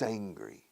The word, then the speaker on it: angry: Fíjate, angry, la primera sílaba, digo la primera letra del alfabeto, A. Angry. Para no confundirlo con hambriento. Hungry. Angry.